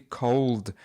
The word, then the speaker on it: cold: She said cold weather, and it's this D sound that sometimes is missing from her words. So it should be cold, cold weather.